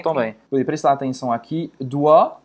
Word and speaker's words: doigts: Vou prestar atenção aqui, doigts, só vou pronunciar esse doigts, doigts, doigts. Não vai pronunciar nem o G, nem o T, nem o S.